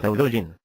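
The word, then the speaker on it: Tao Te Ching: El título se pronuncia Daudoin y el libro en sí está dividido en tres principales.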